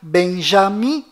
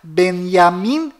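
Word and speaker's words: Binyamin: bom volta no assunto fora de israel o nome deste primeiro-ministro é pronunciado benjamin metaniarro mas dentro de israel o nome dele é pronunciado benyamin netanyahu ao confira fora dentro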